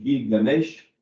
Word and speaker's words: Gilgamesh: qui est l'épopée de Gilgamesh. Alors, on prononce ça aussi Gilgamesh.